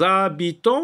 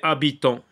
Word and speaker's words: habitants: c'est h CELI que alors les habitants ou bien les habitants parce que si si on dit les habitants et qu'on ne fait pas de liaison c'est un hache aspiré donc le mot habitant